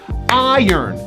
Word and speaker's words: iron: syllable gets the stress this is one of the only times in english we do not push the r it's a very unusual pronunciation we say it like this i yearn two syllables iron there's a hidden y